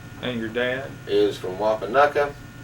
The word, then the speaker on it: Wapanucka: Is from Wapanucka. He continues to pronounce that Wapanucky, and I think that's just a local lore that continues that.